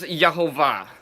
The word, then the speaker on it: Jehovah: hey Vaughn Hey and I believe that this should be pronounced properly as Jehovah is it a conjecture